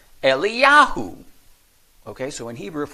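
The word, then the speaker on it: אליהו: but it's significant that both are pronounced the same in Hebrew eliyahu okay so in Hebrew if we were to say eliahu is the same and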